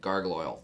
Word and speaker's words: Gargle-oyle: Gargle-oyle. Think like gargling.